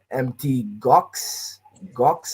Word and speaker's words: Mt. Gox: the German government is selling empty Gox, I believe is the pronunciation of that in the news, you would think those guys are running away.